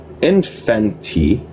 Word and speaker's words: infante: with the Moors, the Infante What? The infanti? Infant? I'm gonna look up the word. Make sure I'm saying it correctly. I honestly don't know. It's infante, so I had it right.